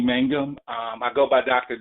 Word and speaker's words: Mangum: Now my name is pronounced Mangum, like man chewing gum.